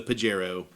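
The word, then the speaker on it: Pajero: So, uh, yes, the pagerro is the pagerro. And don't say it with the soft. Don't say it with a soft J around a a Spanish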